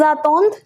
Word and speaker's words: attendent: vous attendez, and ils attendent, elles attendent. Now, again the pronunciation, attendre, attendre, attendre. Same for these three. Then attendons, attendez, attend. Again, it's the same thing. ENT doesn't give any separate pronunciation.